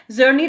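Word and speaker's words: Czerny: दे वो क्या है, जर्नी रिट्रैक्टर है। यहाँ पे सी क्या है, यहाँ पे साइलेंट है सी, तो उसको क्या बोलते हैं, जर्नी रिट्रैक्टर बोलते हैं बेटा।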